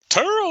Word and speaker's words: Turrell: Turrell, Arkansas, or is it Terrell, Arkansas? Turrell, Arkansas is what Corey Macklin always said, so I'm assuming that's it.